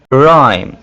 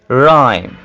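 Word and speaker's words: rhyme: हैं ठीक है और जब आ और एच का कॉमिनेशन होगा इसको भी देख लेते हैं राइम राइम राइम तो इन सब में आपने देखा कि हम एच को साइलेंट कर रहे हैं एच को ड्रॉप कर रहे हैं चलिए जी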